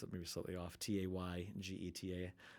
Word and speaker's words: Taygeta: I always pronounce it maybe slightly off. Taygeta.